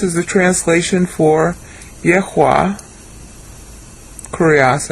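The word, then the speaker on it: κύριος: Kurios, actually, is how you pronounce it.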